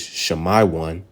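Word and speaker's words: שמעון: fourth one we have Simeon all right in the Hebrew is Shayan which means Affliction heard fifth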